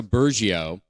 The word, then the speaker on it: Burgio: episode today I'm super excited to have Jessica burgio on did I pronounce the last name correct you sure did